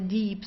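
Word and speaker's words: Dieb: So the deep as you see here I e that means that you have to stretch the eye. Okay? So it's a long eye the deep. So you don't say dip or dip. Deep. It's deep. Okay. Dead deep. Kind of like the word deep in uh in English.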